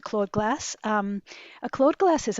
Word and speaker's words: Claude glass: I I always pronounce it clawed glass.